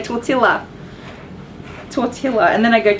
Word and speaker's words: tortilla: tortilla tortilla I keep I said torta Leah in that video tortilla I have to look at the packaging because I'm sure it's spelled with elves that's why I always say tortilla tortilla and then I